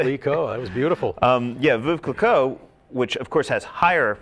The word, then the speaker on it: Veuve Clicquot: worst mispronunciation you've ever had for Veuve Clicquot? I had a guy come in one time and call it Vive Clicquot. Okay. It's just a little bit off, but hey.